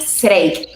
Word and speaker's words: Zreik: Mi apellido es Zreik. Se pronuncia Zreik.